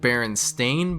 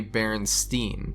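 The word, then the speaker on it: Berenstain: Is it Baron Stain Bears or Baronstein bears? Well, most people would say Baronstein, but actually it's always been Baron Stain, which a lot of people just can't wrap their heads around.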